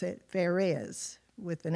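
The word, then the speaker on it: Pharez: r z I would think it would be Perez but they actually pronounced it FZ with an F so FZ was born first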